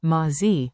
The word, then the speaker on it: מה זה: Keep it simple, 2 short words with a comfy rhythm. Tip 1. Open, ma, like ma, in mama. מה? Tip 2. Z, sounds like zay, quick and light.